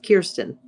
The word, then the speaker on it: Kirsten: And people often say Kristen, but it's Kirsten. Like Kirsten Cinema.